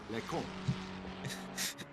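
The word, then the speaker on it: Les Combes: Les cons. It's pronounced Les Cons, but Les cons.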